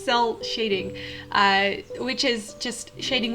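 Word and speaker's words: cel shading: some shell cell cell shading i can never pronounce that it's cell shading uh which is just shading without any gradients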